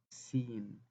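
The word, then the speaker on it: سين: As we see here, the sin is pronounced as seen.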